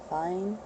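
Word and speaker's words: faen: Fine? Fine? F-A-E-N, but not the A-E together. That's just pronounced I think.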